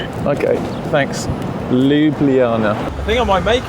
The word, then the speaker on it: Ljubljana: It's pronounced Ljubljana. Ljubljana. Get the hang of it. Enjoy your time there. Okay. Thanks. Ljubljana.